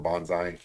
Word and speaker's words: bonsai: ey trees um uh some people pronounce it Bonsai I I pronounce it bonai um some of the